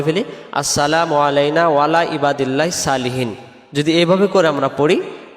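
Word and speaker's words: صالحين: উপরে, ইবাদিল্লাহিস আল্লাহর বান্দার, সলিহিন নেককার বা সৎ। সলিহিন শব্দের অর্থ হলো নেককার বা সৎ। তাহলে এটাকে আমরা সালিহিন পড়ব না, উচ্চারণ করব কি আমরা সলিহিন। আবার হিন টান দেব।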